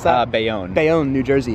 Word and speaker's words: Bayonne: diners of hoboken or bayonne how do you pronounce that uh bayonne they own new jersey it's kind of been